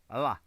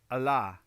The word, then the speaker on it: Allah: One syllable, Allah. One syllable. Okay, so Allah.